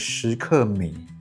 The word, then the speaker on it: Skmei: So the Chinese pronunciation for this brand is Skmei.